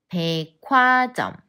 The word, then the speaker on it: 백화점: what happening here well this is obvious when the sound of 어 combines with the sound of he and ches to 키 백화점 백화점 내일 친구랑 백화점에